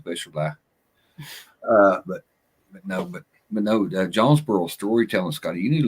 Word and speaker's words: Jonesboro: But no, Jonesboro storytelling, Scotty, you need to look into that.